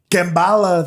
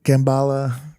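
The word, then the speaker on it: Kamala: So he's like, Kambala, they thought I was saying it wrong when I said Kambala.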